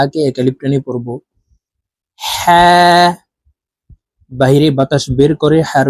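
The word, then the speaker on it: حاء: করে উচ্চারণ করব ওয়াও হা এটি ছোট হা হলুকের শুরু থেকে উচ্চারণ করতে হবে কারণ এই ছোট হার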